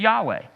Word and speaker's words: Yahweh: why is it Yahweh it was a Hebrew word that they didn't really even know how to pronounce they've kind of settled through the years to pronounce it Yahweh but the problem was that ancient Hebrew didn't have any vowels in it and so it basically